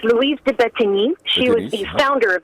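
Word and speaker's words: Louise de Bettignies: And getting back to the actual person, I don't know if I'm pronouncing it right, Louise de Bettigny, is that how you pronounce her name? Yes, it's Louise de Bettigny.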